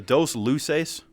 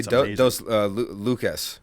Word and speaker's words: Dos Luces: Is it the Dos Luces Brewery? Did I say it right, John? You sure did. I was going to say Dos Lucas.